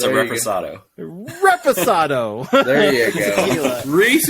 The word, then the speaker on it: reposado: But the sinfully smooth Santo Blanco tequila and the oak-aged Santo Ado Reposado. Is that how you say it? Reese, come on, tell them how to say Reposado. it. It's a reposado.